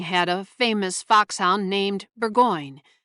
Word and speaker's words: Burgoyne: Nutting had a famous foxhound named Burgoyne. He pronounced it as Begin, which my informant used to borrow.